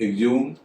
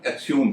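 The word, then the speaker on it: exhume: एग्ज्यूम, एग्ज्यूम का मतलब होता है खोद कर कोई चीज बाहर निकालना, इसका एक उच्चारण एक्स्यूम भी है, यानी एच का उच्चारण यहाँ हो रहा है।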